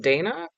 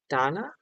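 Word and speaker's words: dāna: Is it pronounced Dana like the name or Donna? Donna.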